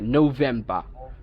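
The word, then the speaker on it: November: বা, নোভেম্বর, ঠিক আছে নোভেম্বর, তাহলে উচ্চারণটা হবে নভেম্বর, এখন থেকে নভেম্বর বলবো না, বলবো নভেম্বর, অক্টোবর বলবো না, বলবো অক্টোবর, সেপ্টেম্বর, এরকম।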